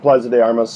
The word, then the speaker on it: Plaza de Armas: Is I think the pronunciation of that? Yep, Plaza de Armas.